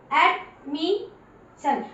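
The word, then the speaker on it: admission: जब double SION लिखा जाएगा, ध्यान रखना इस पूरी की पूरी स्पेलिंग को आप शन की आवाज दोगे।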